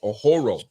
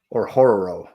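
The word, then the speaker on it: Orhorhoro: Ruke Ohoro. What is it? How do you pronounce that, Kevin? You got it? Or Horror. You gotta roll the R though.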